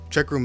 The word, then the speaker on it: Cheqroom: store and download checkroom checkroom is spelt with a q and not a CK it should look something